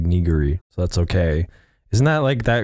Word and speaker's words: nigiri: It's not pronounced like that though. It's like Nigiri, so that's okay.